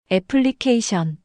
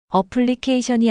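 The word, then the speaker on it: application: 애플리케이션. 어플리케이션이 아니라 애플리케이션이라고 발음해야 해.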